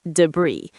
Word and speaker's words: debris: Yes, debris is pronounced debris.